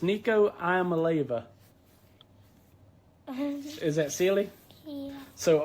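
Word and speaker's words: Nico Iamaleava: Me and Uncle Todd can barely say it, but it's Nico Iamaleva.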